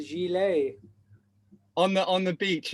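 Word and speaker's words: gilet: italian or what but it's spelled g-i-l-e-t so i've took away from that for years i've been calling it a gillette you look at the word spell it literally says gillette i've been saying it for years but it's a gilley on the on the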